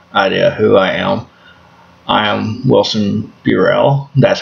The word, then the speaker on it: Burrell: who I am Wilson Burrell that's how it's pronounced Luke Bureau b-u-r-r-e-l-l the U is long a lot of people say this I don't think anybody